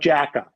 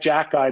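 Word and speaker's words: Xhekaj: the toughness and and the last name is x-h-e -k-a-j which comes out Jacka now if you write it out phonetically and then say it backwards that sounds a lot more like Jack guy than eight x h e k a j does look at that little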